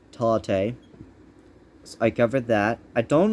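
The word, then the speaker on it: Tauktae: covered tall taste uh tate spelled t a u k t a e but pronounced talate i covered that i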